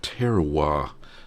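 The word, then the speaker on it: terroir: the milk gets from all the the the terowir that's how you say it in French.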